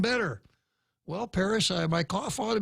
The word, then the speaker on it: Perez: course it's not Perez it wouldn't be Perez in Spanish it wouldn't be Perez in Chamorro it's properly pronounced Paris and the only reason